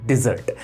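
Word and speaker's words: desert: गई, मिठाई हो गई, वो होती है हमारी डिजर्ट। लेकिन अगर इसी के अंदर थोड़ी सी स्पेलिंग चेंज कर दी जाए तो ये वर्ड बन जाता है डेजर्ट, जिसका मतलब होता है रेगिस्तान।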